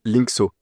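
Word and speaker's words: Linxo: Et la deuxième, tu as dit c'était Linko. Linko, ça s'écrit L I N X O.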